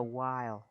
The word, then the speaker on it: while: Đúng rồi, mình sẽ đọc là while, while và mình sẽ cong lưỡi While. chữ L nhẹ thôi và mình While. đọc cái âm I á, mình đọc While. kéo dài hơn một chút.